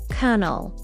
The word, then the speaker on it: colonel: Colonel. Colonel. It sounds just like colonel.